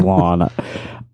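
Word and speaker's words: Lahn: L A HN is pronounced lane. I don't think so. I don't think so. His name is Zach Lon and I'm not backing down on that.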